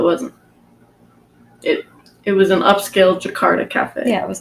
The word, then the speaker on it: Jakarta: Actually, I don't know how to say it, Jakarta?